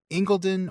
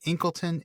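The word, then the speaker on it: Incledon: So it looks like Inken, but it looks like Inken, but I've seen some stuff online that suggests it might actually be pronounced Ingleton.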